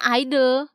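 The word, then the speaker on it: (G)I-DLE: Menurut gue ini malah kurang swag versi G-Idol. G-Idol. Lu pernah ada yang komen. Siapa sih yang ngomong judul-judul mulu? Sebenarnya itu pronounce-nya idol. Tapi tuh kayak G-nya hilang gitu, aneh gak sih?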